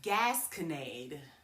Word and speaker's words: gasconade: Today the word is GASCONADE. Yes, I said it. GASCONADE. It is spelled GASCONADE.